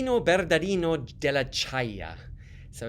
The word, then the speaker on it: Ciaia: of as Olli Norbert of daddy nod della Chaya so it's spelt C I a I a very unusual spelling della Chaya he was an interesting guy he was born